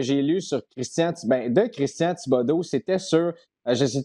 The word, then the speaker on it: Thibaudeau: Puis bien sûr, parce que son nom est en français, ça disait, c'est prononcé Thibodeau, donc T-E-E-B-O-D-O et non Vin Diesel.